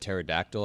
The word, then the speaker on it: pterodactyl: But after you said pterodactyl, I came up with a top five words with a silent P. Oh, pterodactyl. Great. It starts with a P.